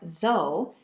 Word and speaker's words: though: Las palabras although or though, que significan aunque, y también dough, que significa masa, de pizza, por ejemplo, se pronuncian con la O en no en inglés. No. En este caso, la G y la H son mudas.